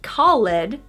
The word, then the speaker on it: called: Number three, called. Not called, but called. Called.